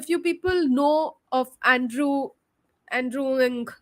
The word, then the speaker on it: Andrew Ng: people know of Andrew andrewing is how he pronounces his name Andrew NG uh he's a professor